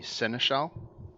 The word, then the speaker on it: seneschal: He was the seneschal or senescal. Oh, How is that word pronounced?